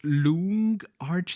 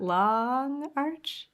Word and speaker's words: LoongArch: say it it's not long Arch it's not long at first I was like oh they made AR 64 longer darn it it's actually a Chinese word okay I don't know